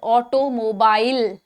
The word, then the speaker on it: automobile: Despite its spelling of mobile in the last syllable, many often pronounce it as mobile.